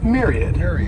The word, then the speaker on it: myriad: the next noun is Myriad this word has three syllables and the stresses on that first syllable that M yr sounds like a Mir Myriad and a myriad is